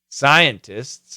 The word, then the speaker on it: scientists: it's a great phrase scientists agree so perfect pronunciation you're going to hear STS scientists scientists scientists the faster we say it the tea will disappear scientists scientists so and